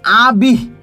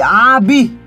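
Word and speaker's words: আবিঃ: পরে একটা দীর্ঘশ্বাস ফেলছি, আবিহ। কেন এরকম হচ্ছে? কেননা বিয়ের পরে কিন্তু একটা বিসর্গ চিহ্ন আছে। যদি কোনো শব্দের পরে বিসর্গ চিহ্ন থাকে তাহলে তারপরে কিন্তু একটা দীর্ঘশ্বাস আসে।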